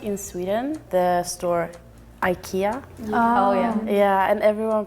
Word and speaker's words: IKEA: We pronounce the E very IKEA, very like hard and long.